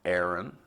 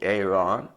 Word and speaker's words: Aaron: Some say the traditional way of saying it, Aaron. I say Aaron because of the way it's spelled. It's spelled A-R-R-O-N. To me, that's more like Aaron.